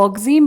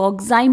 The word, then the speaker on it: oxime: कुछ लोग इसको ऑक्सीम पढ़ते हैं, कुछ लोग इसको ऑक्साइम पढ़ते हैं. प्रोनाउंसिएशन का डिफरेंस है बेटा, बट ऑक्साइम पढ़ेंगे तो बेटर है, ऑक्सीम भी पढ़ेंगे तो चलेगा.